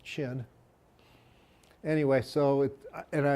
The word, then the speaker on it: Qin: cue dog on cue Qin Shi Huangdi the first emperor it's pronounced chin anyway so it and